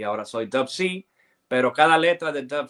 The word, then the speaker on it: Dubb C: Dupsi, bueno, tiene dos significados, o sea, Dupsi es las iniciales en inglés de Dove, de la W, y la C, de White Chocolate, ¿verdad? Okay. Entonces, pues, se pronuncia Dove C.